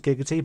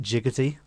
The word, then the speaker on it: Giggity: And I made his catchphrase Giggity, but the thing pronounced it Jiggity.